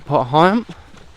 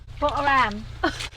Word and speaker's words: Potter Heigham: We will just clip a bit of Hickling Broad before we turn off left and head back to Potter Heigham.